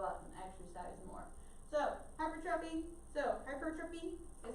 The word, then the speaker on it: hypertrophy: So hypertrophy is how you're technically supposed to say it. So hypertrophy. Now it looks like hypertrophy. Please don't say it like that. So hypertrophy. So just make a note for that.